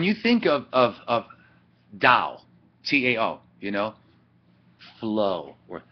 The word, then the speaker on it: Dao: see the tv right that's not taoism it's the dao you pronounce it with the d so we're going to